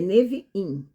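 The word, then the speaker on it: נביאים: A gente engole o in, né? Se fosse português é Neviim, mas não, é Neviim, com a sílaba forte, tônica na última, né?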